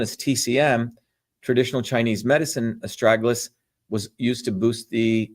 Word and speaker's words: Astragalus: So again, as I started off, estragalus, estragalus, that's the way you pronounce this, is known as a guardian root.